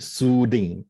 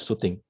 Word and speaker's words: soothing: It's supposed to be soothing. Yeah, it's not shooting. So you try to pronounce as, because there's a S-O-O over there, so you drag a bit over there. Soothing.